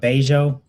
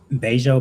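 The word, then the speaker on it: Bello: And a lot it's a I think this area is slept on, but Bejo, man, some of the most beautiful women in Medí, they all live in Beij.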